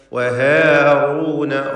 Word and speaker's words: وهارون: വലഖദ് ആതൈന മൂസ വഹാറൂന റായിന് തഫ്ഖീം കൊടുക്കുക, തടിപ്പിച്ചുച്ചരിക്കുക.